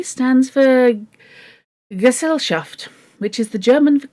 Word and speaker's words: Gesellschaft: If that's what's worrying you, Gesellschaft is pronounced Gesellschaft.